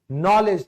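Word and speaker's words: knowledge: ज्ञान, नॉलेज, तो देखो इसमें जी भी साइलेंट है और के भी साइलेंट है, दो साइलेंट है।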